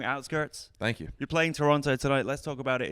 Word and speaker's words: Toronto: How did you know though not to pronounce the second T in Toronto? Did I not? Because it's Toronto. It is. Toronto.